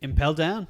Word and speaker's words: Impel Down: Impel down.